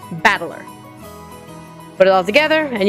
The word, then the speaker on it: Battler: That is made up the characters for fight and person, and it's pronounced battler.